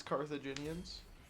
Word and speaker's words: Carthaginians: my board doesn't have any theme holy he pronounced it correctly it's carthaginians I took a shot the Hannibal guy is